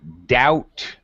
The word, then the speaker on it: doubt: a noun and also doubt has a silent b like you don't pronounce the b at all whatsoever okay very good uh